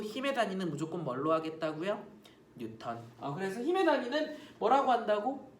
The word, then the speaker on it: 뉴턴: 뉴턴. 그치? 뉴턴이라고 읽고요. 쌤 저는 뉴턴이라고 읽기 싫어요. 뉴튼이라고 읽을래요. 뉴튼. 괜찮아요. 이렇게 읽어도 돼요. 이렇게 읽는 선생님들도 많아요. 그래서 뉴튼 어떻게 읽어도 상관없어요.